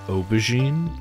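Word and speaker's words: aubergine: actually call it an Obin which is the French pronunciation of eggplant like the French word for it um and it's because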